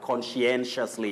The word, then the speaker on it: conscientiously: When people are being sworn in, it's always a very tricky word, conscientiously. And Tea, that is how people should pronounce that word.